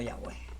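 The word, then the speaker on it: Yahweh: historia en general es la Iglesia Católica pronuncia yah luo No necesariamente explícitamente yahvé sino yahwe Okay Por qué Porque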